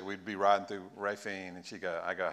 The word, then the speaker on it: Raphine: nobody can spell it some people say rafine or rapine but it is rafine um at least that's how the locals say it and so we're dealing